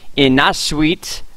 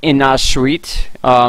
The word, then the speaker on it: Innaarsuit: Now, this area of INNAARSUIT is, I believe, how it's pronounced. I even looked it up. I listened to a Polish pronunciation, all different types of pronunciations, and that was the average one.